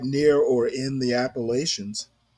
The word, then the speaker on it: Appalachians: It's right near or in the Appalachians. And I know I don't pronounce them the Appalachians. I hate that pronunciation.